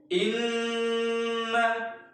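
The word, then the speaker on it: إنّ: Kita membacanya ketika nun bertasydid seperti ada dua nun yang disukun. Inna.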